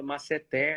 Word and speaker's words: masseter: humano de goiânia é que falava masseter e eu até questionei uma vez também ele falou olha não tem acento então se fosse proparoxítona tivesse assento maravilhoso continuando aqui dentro